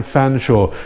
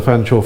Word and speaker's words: Fanshawe: actually not and I normally you don't see Feng shots or spell like that normally they spell it Featherstone Hue or something like that but there we go you can be spelled fanchor as it as it sounds but it's quite strange to see fan shall spill like that in